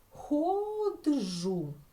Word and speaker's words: ходжу: це один звук розірвати наприклад ходжу ми наче інколи можемо так вимовити ми вимовити це слово ходж так і розбити його таким чином на склади але це неправильно тому що в цьому випадку Дж - це звук який належить до кореня слова і розвивати не можна